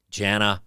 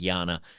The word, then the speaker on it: Jana: to make fun of jana hawking that's right or yana i guess you guys tell me that it's pronounced yana yana hawking and if you